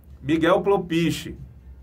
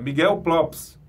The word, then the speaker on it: Miguel Lopes: o nome dele correto eu falava nos vídeos Miguel pelo peixe e não é Miguel pro peixe é o produtor dos Fevers é Miguel Lopes Miguel Lopes a gente pronunciava errado Miguel propício e não é Miguel Lopes tá é o correto eu vi uma entrevista